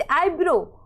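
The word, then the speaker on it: eyebrow: ये इस रूल्स के अकॉर्डिंग ये ध्यान रखो आप कि ओ और डब्ल्यू साथ में आए तो डब्ल्यू साइलेंट रहता है। जैसे आईब्रो, अब आईब्रो में डब्ल्यू क्या है? साइलेंट है।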